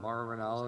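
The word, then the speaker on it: Mauro Ranallo: hear what is it Maro Ronaldo is how his name is pronounced yeah yeah I I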